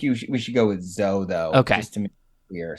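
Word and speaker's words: Tsou: It's It's pronounced different way. I think you we should go with Zo though, just to make clear.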